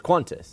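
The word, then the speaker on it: Qantas: acknowledge that you also it's not quantis there's no you cantis cantis you say cantis no I mean it's quantis it's just not spelled that way when well how do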